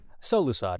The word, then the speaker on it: Solusod: said someone's last name out loud is it solusod how do you say your last name so lusad yeah got it gotten one cool uh nailed